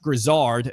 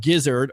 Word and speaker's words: Grisard: Josh Grisard, not Gizzard or Grizzard like I was saying before.